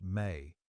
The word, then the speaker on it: me: The mainstream Sumerian historical fact for this section concerns the concept of the mi pronounced may which Sumerian texts describe as the fundamental principles or divine decrees that make civilization possible.